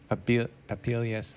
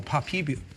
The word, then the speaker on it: papabile: Is the Papalius? Oh, Papabile. Papabile.